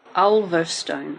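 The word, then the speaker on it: Ulverstone: um near laon in Tasmania how do you spell that u l v e r s t o n e olstone okay yeah in tzy so we went to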